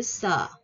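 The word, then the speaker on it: ㅅ: Nè, tiếp theo, số 7, số 7 mình sẽ có chữ sờ. Sờ. Sờ. Cái chữ này nó sẽ hơi gió gió ha các bạn.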